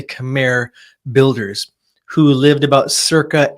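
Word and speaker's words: Khmer: area were made by the Camair it's pronounced or Kami but most people say Camair builders who lived about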